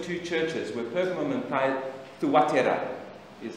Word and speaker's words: Thyatira: churches were Pergamum and Thuatira, is how you pronounce it, Thuatira. We say Thyatira, it's actually Thuatira.